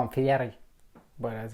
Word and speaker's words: Fieri: There's a photo when you met Guy Fieri. I met Guy Fieri. No, Dylan, you guys know Kobe together, right? First time I met him, same day I met Guy Fieri. We used to call him Fieri, but that's how it's pronounced.